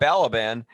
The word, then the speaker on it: Balaban: But yeah, Bob Balaban.